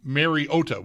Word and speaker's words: Mariota: The the first half of the game into the second half, both Trico and Collinssworth were pronouncing Mariota's name, Mary Ot with the emphasis on the O.